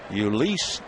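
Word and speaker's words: Jhoulys: Ulysses Chacin makes the first pitch a strike, and the count 0-1.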